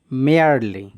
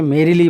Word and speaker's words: merely: মেয়ারলি, দেখো সঠিকভাবে বানানটা আগে করো। দেখো MERELY, মেয়ারলি। অনেকে এটাকে মেরিলি পড়ো, আসলে উচ্চারণটা হবে মেয়ারলি।